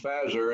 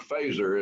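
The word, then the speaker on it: Phazer: and relationship and he's pronounced phasor and not phaser as i have heard some people say we adopted it as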